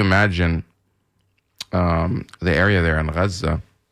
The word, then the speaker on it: Gaza: So if you imagine the area there in Gaza, Gaza is the Arabic pronunciation of Gaza.